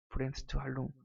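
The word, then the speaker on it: Bremsstrahlung: 브렘스트 할룽. 책에 찾아보시면 있어요.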